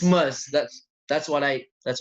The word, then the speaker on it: Muzz: how to pronounce this is it must is it moose it's must that's that's what i